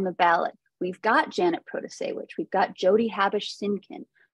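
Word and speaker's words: Protasiewicz: vote for judge Janet Pro to say which the Supreme Court election is liberal pan candidate and that first name you've heard that last name is pronounced Pro to say which Janet produce sandwich but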